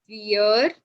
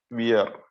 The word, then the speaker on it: vier: Then four is called vier. Wir. No, not. It is no more weird. That is what I'm trying to tell you. It is fear now because we's got Okay, we is pronounced fa.